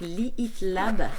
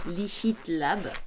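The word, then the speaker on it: Lihit Lab: fines c'est la marque leat Lab leat Lab ça se prononce pas le hache mais c'est pour que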